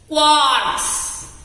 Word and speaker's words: quarks: क्वार्क्स। बोलो बच्चों, pronunciation करो, बोलो क्वार्क्स, क्वार्क्स, क्वार्क्स।